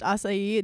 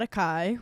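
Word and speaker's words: açaí: Um yes, it's pronounced acai, not acai, which I may have done in the past.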